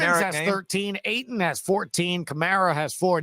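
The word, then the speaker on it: Camara: 20 points Simmons has 13 Aon has 14 camarra has four not Alvin what I'm just saying it's he pronounces it Kamar Kamar okay sorry well Kamar has seven points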